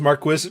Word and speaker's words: Marquis: I have a feeling whoever the voice director is did not know how it was supposed to be pronounced. Marquez is actually just a different uh is the 16th century variant of Marquee. Uh so it actually is Marquis like they're saying it correctly for whatever they're doing.